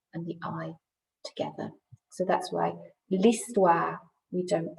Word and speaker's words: l'histoire: And that's because we don't really pronounce the H in French.